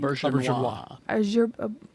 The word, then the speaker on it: Auberjonois: Auberjonois.